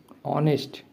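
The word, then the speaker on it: honest: ऑनेस्ट देखिए यहां पर भी प्रोनाउंस करेंगे तो आप अ ही आएगा।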